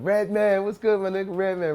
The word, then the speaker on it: Redman: You see how you said my name? White people say my name like Redman, and black people say my name Redman.